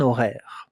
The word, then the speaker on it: horaire: A schedule, un horaire. Pay attention, it begins with an H that we don't hear. We don't listen to the H.